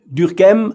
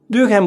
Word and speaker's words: Durkheim: Durkheim, I try to pronounce his name the French way, but maybe I will forget it later and give it a more German sound.